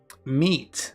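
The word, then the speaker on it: Meet: It's pronounced meat. Meat.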